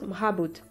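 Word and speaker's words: مرابط: Marabout vient du mot arabe mourabid, qui dans l'arabe dialectal se prononce mrabout.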